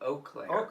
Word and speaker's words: Eau Claire: It's in Eau Claire, Wisconsin. Is that how you say it? Eau Claire is how it's pronounced. Eau Claire, I believe.